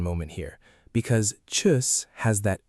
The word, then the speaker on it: tschüss: The U is like saying E, but you round your lips into an U shape at the same time. Try it. E, now round your lips, U. Tschüss.